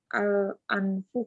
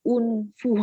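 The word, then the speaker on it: الأنف: Ustadz ini bacanya al-anfu kan? Anfu, iya. Al-anfu. Anfu. Karena di apa print outnya tuh unfu.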